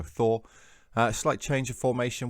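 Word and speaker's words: Þór: It's pronounced with a TH sound, so Thor.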